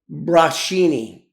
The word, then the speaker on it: Brocchini: And how I was the kid of Joey Brachini Brachini. I'm going to spell it.